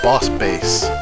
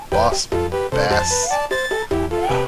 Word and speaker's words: Boss Bass: when I need to usually when I need to say it is base but this time it's actually bass but boss bass now